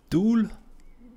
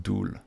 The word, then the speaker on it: dual: big step for me dual is pronounced duel not dull ah dull like dull like this dull thank you what about